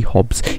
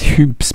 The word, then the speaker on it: Hoobs: the hoops smp i've recently learned now it's pronounced tubes not here bloody hobbs it's hoops it's hoops man yeah i'll figure that out now so